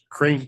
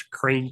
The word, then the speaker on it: Krain: We're a little bit out of order, but this is Crane Creek Fabrication out of Minnesota.